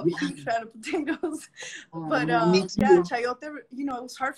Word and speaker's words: chayote: But We were introduced to chayote.